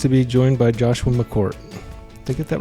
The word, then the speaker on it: McCourt: And today I'm pleased to be joined by Joshua McCort.